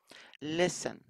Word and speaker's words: listen: listen في حرف التي تكتب ولا تلفظ.